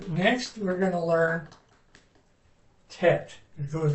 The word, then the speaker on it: Tet: It goes, it has it's pronounced T. It's the Tet.